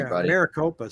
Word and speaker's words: Maricopa: buying a new build and you got to pronounce that city for me maricopa stacey maricopa there's some nice new builds down